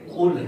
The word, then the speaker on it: قل: اب یہاں پر سمجھ آتے ہیں کلو واللہ کلو واللہ. کلو واللہ لفظ نہیں ہے. یہ قل ہے قل اور ہو ہے.